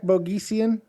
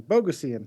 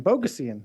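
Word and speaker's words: Bogosian: uh we got Zach bogeysian that's not how you say his name oh BOGO seeing bogusian I looked up his name before b-o-g-o-s-i-a-n bogusian no it's not focusing it's pretty damn close how much you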